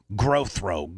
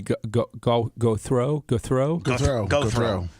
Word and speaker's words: Gothro: Growthro. No, it would be go throw. Like go throw the ball.